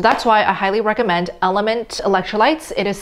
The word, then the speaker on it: LMNT: starting carnivore so that's why i highly recommend element electrolytes it is spelled lmnt these are what the full size